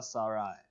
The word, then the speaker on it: Sarai: Dre and Cocoa Sarai. Not Sarah, how I say it.